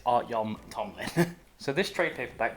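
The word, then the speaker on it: Artyom Topilin: Starks and artyon Tomlin I have to always take a second to pronounce that name but it's art Yom Tomlin so this trade paper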